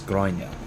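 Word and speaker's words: Gráinne: So, if there is no gh, it is it's Gronya. And is that still the I thing? That that little that little phoneme that's missing from English? Or is it just all? Gronya.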